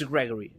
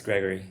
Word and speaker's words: Greigori: had that realization that okay so it's it's Gregory is right yeah yeah it's it's Gregory yeah and uh it's